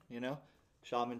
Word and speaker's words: Xiamen: Xiamen is pronounced like an Indian shaman, Xiamen, China.